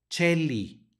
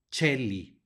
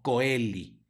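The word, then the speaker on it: coeli: se pronuncia e y cuando la c está seguida de una e la pronunciamos como Che en español por lo tanto Cheli no koeli Ok luego Aquí ya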